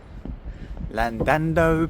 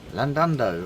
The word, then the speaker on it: Llandudno: end of the pier Lando Pier I think I said that right that time I love to call it Lando just it's spelled with double L's but I think they only pronounced one Lando oh the Welsh Coast